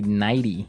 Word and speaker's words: nightie: You say nighty. Yeah. You you make the t a d.